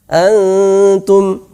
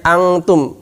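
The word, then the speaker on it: أنتم: Nah, antum. Ini bukan bacanya angtum, bukan banyak yang baca dengan ng, sehingga dia malah persiapan kaf. Harusnya persiapan ta. Antum, bukan angtum. Kalau angtum dia persiapan kof dan kaf.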